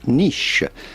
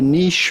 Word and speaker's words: niche: In French, it is said niche. Therefore, in British English, they have adopted a similar pronunciation to the French pronunciation. You would say a niche market or a niche company.